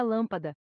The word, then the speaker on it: lâmpada: ser tônicas ou átonas observe a palavra lâmpada a sílaba lá é tônica é a mais forte da palavra enquanto que as outras